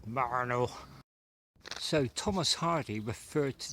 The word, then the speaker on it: Marnhull: So I'm in the village of, it's spelt Marnhull, but I used to have a girl from this village and she insisted it was called Marnhull.